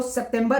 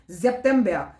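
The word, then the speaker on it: September: हमारा ऑगोस्ट फिर हमारा जेप्बिया ठीक है एस के साउंड जेड प्रोनाउंस होगी मैंने कहा था तो सेप्टेंबर नहीं जेपेंबिया फिर है ऑक्टोबा फिर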